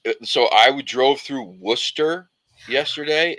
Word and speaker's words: Worcester: drove through Worcester yesterday if you've ever seen how Worster is spelled it's like Worcester yeah like you're yeah right so the way so the way that he spelled deer definitely just had me laughing sauce wash wash your sister sauce yeah wor a sister sauce I'm like how do they miss like three syllables in this word just skip right over them they're like yeah we